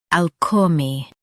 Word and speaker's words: alchemy: ALCHEMY. Now read the syllables shown on the screen naturally. Al, k, me, ALCHEMY. Stress all and keep k light.